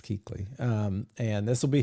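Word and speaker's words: Kuechly: new indues this year kley how do you say it I think it's Keeley Luke Keeley Keeley yes maybe it's always the U in there that throws me I try to I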